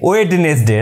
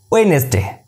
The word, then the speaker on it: Wednesday: days of the week so sunday monday tuesday wednesday right that's a totally wrong pronunciation you have to pronounce it's like wednesday it's your wednesday next day d silent wednesday